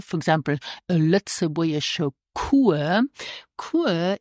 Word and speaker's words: cours: Cours is spelled C-O-U-R-S, but we don't pronounce the final S. And yes, we pronounce it cours.